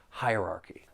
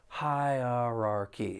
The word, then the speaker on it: hierarchy: That's the pronunciation of this noun because it's another long word. Hierarchy. There are four syllables. The stress is on that first syllable and the second syllable. You do hear that schwah sound.